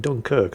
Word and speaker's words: Dunkerque: The Dunkerque is... what? What do you mean I'm mispronouncing it? No, I'm not. Look, if they wanted me to pronounce it Dunkirk, they shouldn't have spelled it Dunkerque, should they?